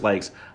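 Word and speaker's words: Lykes: ends jj sorry um chris like a league am i pronouncing that right sorry i think i think it's pronounced chris likes uh yeah they they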